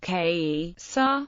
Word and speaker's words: Caesar: Latin word for Caesar the word Caesar is pronounced K sa In classical Latin the Holy Roman Empire was